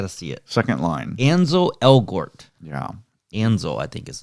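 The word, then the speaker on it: Ansel Elgort: because i always it up ainsle elgort ansel where is it written i got to see it second line anzo elgort yeah anzo i think is his name i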